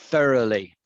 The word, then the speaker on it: thoroughly: wants to learn spanish thoroughly thoroughly thoroughly yeah thorough sir my tongue third yeah your tongue is coming very much to the four of your mouths under your teeth thoroughly yeah yeah you've